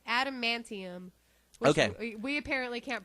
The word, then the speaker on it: adamantium: pronounce that stuff alanium ad what adum a d adamantium adum there you go adamantium we apparently can't pronounce